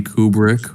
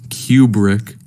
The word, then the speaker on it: Kubrick: Last time I recommended a movie called Barry Lyndon, directed by Stanley Kubrick, or as the Brits would pronounce it, and as my friend Chris would pronounce it, Kubrick.